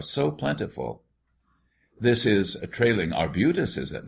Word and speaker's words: arbutus: plentiful this is trailing arbutus is it not yes except pardon me with the ex Accent on the first syllable but I am becoming